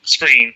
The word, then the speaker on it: Skrine: I'm not sure how you pronounce his name. It's Screen.